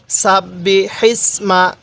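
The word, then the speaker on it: سبح: রাহমানির সাব্বিমা রব্বিকাল আলা এই হাটা উচ্চারণের সময় মুখ দিয়ে হালকা বাতাস বের করব সাব্বিমা তাহলে কিভাবে পড়বো রব্বিকাল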